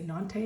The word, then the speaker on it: Nantes: artist the Edict of nantis um or nante I would say nante is how you say it in French the huguenots precede Henry